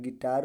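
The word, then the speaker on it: guitar: नहीं हो य क्या होगा साइलेंट होगा तो साइलेंट होगा तो क्या पढ गिटार पढ़ जाए क्या प गटार ठीक है क्या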